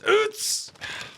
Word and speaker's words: Utz: So it was founded by Bill and Sally Utz, pronounced in German as Utz.